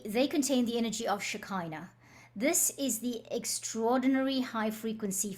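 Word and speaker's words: Shekinah: energy of shakina and it's spelled s h e k i n a h some people say shikina some people say shakina I'm going to for our purposes say shakina all right the they contain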